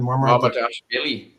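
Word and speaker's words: Mamardashvili: Marmardashvili.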